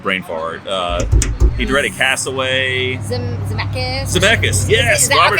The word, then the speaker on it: Zemeckis: Zemeckis. Yes, Robert Zemeckis.